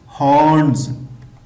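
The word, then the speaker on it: horns: इसमें रा साउंड जो है वो साइलेंट है, तो इसको इस तरह प्रोनाउंस करेंगे हॉर्न्स।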